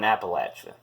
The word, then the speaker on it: Appalachia: It's like you're gonna say, hey, it's like you're saying, hey, if you mispronounce that one more time, I'm gonna throw an Appalachia. Okay, that's the way to pronounce it.